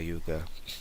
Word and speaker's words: Jukka: Well, for Yuka, I would say on Twitter, Yuka is Toon Yuka. That's UKKA JUKKA. Let me spell it right.